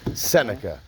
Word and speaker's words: Seneca: How do you say your name? Seneca. Seneca, right? Yep.